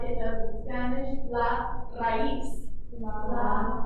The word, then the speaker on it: raíz: I heard some people trying to roll their R's. If you can't roll them, don't worry about it. If you can, awesome. Go ahead and try that again for me.